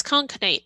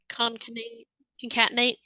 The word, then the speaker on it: concatenate: great question i don't oh it's conkinate or com i don't know how you actually say it but it's concatenate thank you i was